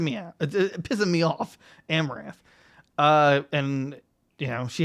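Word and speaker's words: Amouranth: we talked about her before how do you pronounce that name uh amber smith amaranth okay she's pissing me out pissing me off amaranth uh and you know she hadn't inflatable pool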